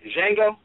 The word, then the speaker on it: Django: process ISS about first what is the pronunciation in that movie Jango yeah Jango and please you you